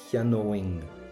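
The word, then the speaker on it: cheannóinn: Now I would buy gets an owing sound. Owing, cheanóing. I would buy, cheanóing. So it gets an O, but that goes for an ing sound, cheanóing.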